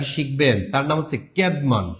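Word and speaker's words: Cædmon: ক্যাডমন এই ক্যাডমন উচ্চারণটা হবে এরকম। ইংরেজি সাহিত্যের প্রথম কবি বলা হয় ক্যাডমন কে।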